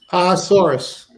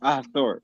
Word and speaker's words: Ahasuerus: I can't pronounce it. One more time. Ahasuerus. Ahasuerus.